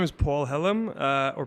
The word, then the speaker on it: Pål Hellum: yeah thank you uh so my name is Paul Helm uh or pronounced Paul Helm in Norwegian I am from Oslo which is